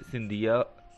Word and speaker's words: सिंधिया: महाराष्ट्र में इन्हें जो है शिंदे कहा जाता है, लेकिन दीगर इलाकों में इन्हें सिंधिया कहते हैं। इसका मतलब क्या हुआ कि सिंधिया और शिंदे एक ही है, लेकिन उनका इलाकों के अतबार से प्रोनाउंसिएशन या तलफ़ुज़ अलग अलग किया जाता है।